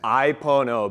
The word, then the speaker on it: Ai Pono: Ai Pono, baby, and it rhymes with the roots, the good stuff.